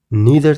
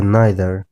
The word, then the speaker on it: neither: زموږ او ستاسې زیاتره خلک امریکایي انګلیش زده کوي، نو په دې خاطر دوی دا لغت د neither او either تلفظ کوي، مګر په برټش انګلیش یا بریتانوي انګلیسي کې دا لغتونه د either او neither په شکل تلفظ کیږي.